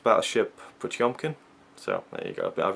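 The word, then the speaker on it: Potemkin: both paired with the the Blu-ray of Battleship P tempkin although I believe I read the booklet I read some of the booklet and it's it's pronounced Battleship pumkin so there you go I've been pronouncing it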